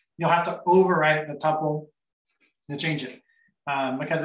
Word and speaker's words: tuple: So we also have a tuple or tuple. I don't know how you actually pronounce it. You'll hear it both ways. So I generally say tuple.